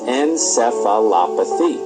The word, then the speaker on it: encephalopathy: the condition is hepatic encephalopathy now the proper pronunciation of the encephalopathy is encephalopathy now in this condition hepatic encephalopathy our typical